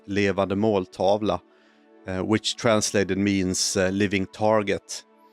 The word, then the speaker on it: Levande måltavla: The Swedish title, by the way, is pronounced Levande måltavla, which translated means living target.